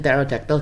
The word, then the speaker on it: pterodactyl: 2 ancient dragon Terra Feet with the P, so the P is silent in pterodactyl, guys.